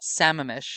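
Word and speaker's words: Sammamish: Samamesh Rowing. Yeah, I was actually on the airplane with Seamish and they said everybody mispronounces it. Samamesh.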